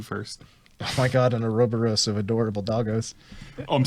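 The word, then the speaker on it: Ouroboros: on the just now here's the pronunciation I go by it's Albert Wesker Resident Evil 5 uro borus so yeah an acrylic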